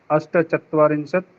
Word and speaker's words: अष्टचत्वारिंशत्: एकचत्वारिंशत् एकचत्वारिंशत् एकचत्वारिंशत् द्विचत्वारिंशत् त्रिचत्वारिंशत् चतुश्चत्वारिंशत् पञ्चचत्वारिंशत् षट्चत्वारिंशत् सप्तचत्वारिंशत् सप्तचत्वारिंशत् अष्टचत्वारिंशत् नवचत्वारिंशत् पञ्चाशत्। महोदय, अच्छा यहाँ चत्वारिंशत् में अष्ट को अष्टा नहीं होगा, आगे नहीं होगा। 41 to 50 41 to 100 कहीं भी नहीं होगा।